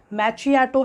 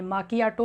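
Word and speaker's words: macchiato: जैसे ये देखने से लग सकता है कि ये मैचियाटो है जबकि एक्चुअल में ये माकियाटो है.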